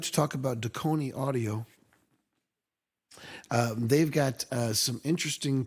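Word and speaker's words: Dekoni: Did I pronounce that right, Deconi? That is absolutely perfect.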